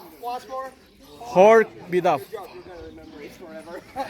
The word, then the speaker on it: Khor: So we are near the monastery, which is named Khor. First of all, I'll ask you to pronounce it correctly. Come on. Khor. Khor. Once more. Khor.